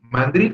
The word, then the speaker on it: mandril: Sí, mandril es aguda porque drill es la sílaba que se pronuncia más fuerte.